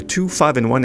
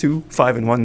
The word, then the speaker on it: 2-5-1: Well, the 25 and 1, and yes, that's how it's pronounced. 25 and 1, not I, I vi, is the progression that appears in virtually all of the standards.